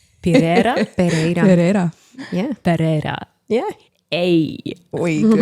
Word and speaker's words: Pereira: Do you want to try and pronounce her last name? Pereira.